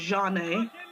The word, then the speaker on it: Janae: before answer that question i just want to give a big shout out to paul cockerton who now know knows how my name is pronounced because i think all the fans were having problems with that so i'm going to say it live on the air my name is janae and everyone calls me